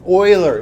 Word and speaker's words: Euler: is pronounced like that Euler it's a German name don't say Euler if